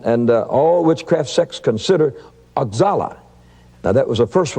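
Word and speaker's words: Oxala: of demons and and all witchcraft sex consider axallah now that was the first one i met and that's spelled o-x-a-l-a and it's pronounced ochala and he is the head of all spirits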